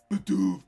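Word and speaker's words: Bidoof: And you got to say it like that, too. Badoof to Bibarel.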